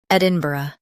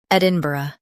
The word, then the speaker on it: Edinburgh: Ed in B uh Edinburgh. Stress ed and keep inbur smooth. Ed in B. Uh, Edinburgh.